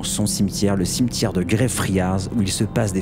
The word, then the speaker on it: Greyfriars: Avant d'aller dans le cimetière de Greyfriars, et non pas Greyfriars, Cédric, attention à la prononciation, habituellement t'es bon en anglais, je comprends pas là.